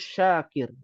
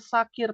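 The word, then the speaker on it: شاكر: yang bersyukur Abdus Syakir Nah ada lagi namanya sakir pakai Sin Nah sirun ya pakai Cuman beda dikit kan Iya Arya Apa sakaro artinya mabuk Oh jadi jangan sampai punya anak namanya Abdus sakir sakir pakai s a bukan S ya a ya E jadinya hamba pemabuk ya Subhanallah ya nauzubillah Kasihan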